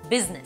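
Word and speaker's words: business: করি না, সেটা হচ্ছে বিজনেস। অনেকজনকে দেখবেন বিজনেস এভাবে বলার চেষ্টা করে, এটা কিন্তু ভুল, বিজনেস এখানে আইটা সাইলেন্ট।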